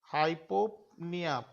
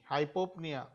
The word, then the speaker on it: hypopnea: breathing or hypop hypopnea here A P is missing it is hypona hypoa hypopnea p n p n o e hypopnea fast breath rate is